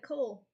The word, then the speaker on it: CoL: pronounced out loud oh it's pronounced like Cole you got it honey